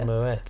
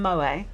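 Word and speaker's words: Moët: Moets. Moets. The Moets. No person I've ever met says that. We had some Moa.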